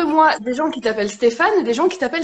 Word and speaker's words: Stefan: En fait, ça s'écrit Stefan. Donc, Ouais, pas de PH, pas de à la fin. Donc, ça se dit Stéphane. ouais. Stéphane en allemand, comme c'est ma langue maternelle.